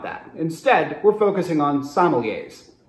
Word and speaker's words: sommelier: few people calling themselves sommeliers seem to actually have let's start with a note about pronunciation in france the correct pronunciation is sommelier scanning metrically somewhere between the words castaway and everyday in rough and ready